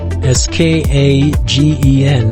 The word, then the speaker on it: Skagen: And this little fishing town, I would say, is called Skagen, S-K-A-G-E-N, but pronounced Skagen.